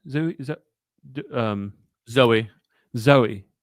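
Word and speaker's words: Zooey: they had um zoie Zoe zo zo um Zoe zoeee but it's spelled with the zoo zoo right e y did Zoe dashel or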